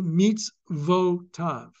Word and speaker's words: mitzvotav: Then the next one, b-mitz-votav. You have the end of the syllable, mitz. Now you have a new syllable. Syllable must begin with a vowel sound. So it's got to be mitzvotav.